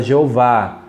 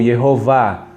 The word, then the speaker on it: Jeová: nós encontramos evidência a favor da forma antiga e mundialmente usada Jeová em português, ou Yehová. Tanto faz você falar Jeová ou Yehová, tanto faz.